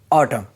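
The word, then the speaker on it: autumn: अगर एन के पहले एम आए तो एन साइलेंट होता है। एग्जांपल ऑटम मींस पतझर।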